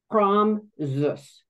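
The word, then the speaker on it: Praamžius: Her cousins emailed back, Praamzius. Praamzius. Okay. So that's how you pronounce it.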